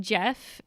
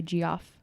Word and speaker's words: Geoff: this real cool dude but Jeff and it's spelled GE o FF yes I used to I used to tease him like geoff's whenever you see it in a book spelled like that in your head you say gee off yeah you can name